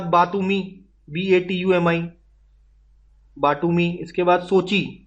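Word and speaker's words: Sochi: इसके बाद सोची, ये कोची नहीं है, सोची है, ठीक है, रशिया में आपको देखने को मिलेगा सोची।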